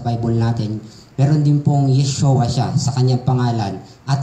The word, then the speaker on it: Yeshua: Dito pinangalanan po siya sa wikang Aram Mik na Yeshua o Yeshua binibigkas po natin na kung saan bukod